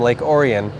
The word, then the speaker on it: Lake Orion: you know it's uh we pronounced it at the time Lake orian and uh I'll do